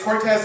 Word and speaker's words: Cortes: wrong um but uh it's cortez with an s and i protest with a z uh and so i